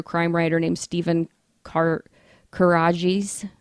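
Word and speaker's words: Karadjis: writer named steven carr karajes courageous how do you spell it k-a-r-a-d-j-i-s courageous that's what i said steven courageous and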